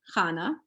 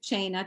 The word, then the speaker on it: Chana: based on real life so many people can't say my name hana they call me china china kahana all kinds of names and that's not my name so years ago i